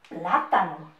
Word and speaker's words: plátano: Debajo, plátano. Ese plátano rico que nos gusta tanto. Tilde la A. En la primera A, escuchen la pronunciación. Plátano. Tilde la A.